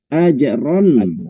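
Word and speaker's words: أجرًا: Ini idhar dibacanya ajron. Ajron hasana. Karena di belakangnya ada huruf halqi, maka namanya izhar halqi.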